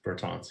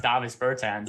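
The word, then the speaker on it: Dāvis Bertāns: is davis it's davis greg not davis davis bertons he's european or something like that just teasing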